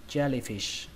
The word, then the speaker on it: jellyfish: Trọng âm của từ này rơi vào âm đầu tiên đó là âm chè. Các bạn nhớ ở đây là âm chờ nhưng mà âm chờ rung thôi, nó không bắn hơi. Chè, chè. Âm thứ hai các bạn đọc là lì. lì trong chữ lì lợm, và âm thứ ba các bạn cũng xuống giọng luôn và kết thúc bằng âm sờ, fish, jellyfish, jellyfish.